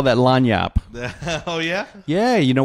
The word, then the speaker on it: lagniappe: We call that lagniappe. Oh, yeah? Yeah. You know what? Have you heard that term before? No. Oh, everybody in Louisiana knows lagniappe.